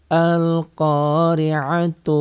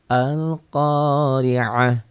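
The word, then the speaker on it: القارعة: Al-Qari'atu mal. Disambung, kalau disambung ini dibaca. Kalau dihentikan jadi ha. Itu namanya ta marbutoh. Berubah bunyi ta-nya menjadi ha. Al-Qari'ah.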